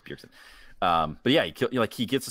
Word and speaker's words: Bjergsen: Did I get the name wrong? Bjergsen is messing me up. Bjergsen, so I'm second guessing myself, but it's Bjergsen.